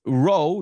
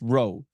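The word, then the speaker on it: rho: for density and it's row not to don't say p it's pronounced Row the p in the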